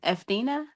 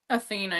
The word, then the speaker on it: Athena: E uh Etheina. How do you say her name? Athena. Yeah. Yeah. Edena.